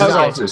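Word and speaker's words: Xatu: It's Zatu. So you go Natu. I say Zatu.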